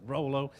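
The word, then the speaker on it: Rollo: It's not Rolo, it is Rolo. That is the way it's pronounced up there north of the border.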